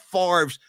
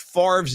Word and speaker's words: Favre: going to say to see I don't need to see pictures of Brett Favre's Mississippi freckle covered junk.